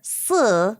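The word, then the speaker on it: 四: is sheng, compared to the number 4, si, which sounds like the word for death, which is si.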